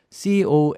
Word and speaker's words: connoisseur: connoisseur 이렇게 쓰죠.